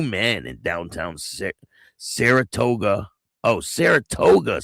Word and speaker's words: Saratoga: Oh, Saratoga Springs, that's how you say it. Saratoga, not Sarasota. Saratoga.